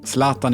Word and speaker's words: Zlatan: You really get into it, you say 'Zlatan' Sladjan: But your name is Zlatan Calle: How do you pronounce it? Zlatan: Zlatan Calle: Zlatan Not 'Zlaaatan' as Lagerbäck usually says.